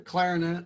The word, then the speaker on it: clarinet: trombone and the clarinet there's a first syllable emphasis on these you play the trombone the clarinet and the keyboard you